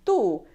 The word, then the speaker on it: tú: Pronouns have accent marks. Pay attention to the accent marks. "Tú", there's an accent on the U, "Tú". If there's no accent, it means that it's a possessive adjective.